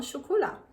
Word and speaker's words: chocolat: Mais uma vez, tem a letra T, mas a gente não pronuncia, então fica pão au chocolat.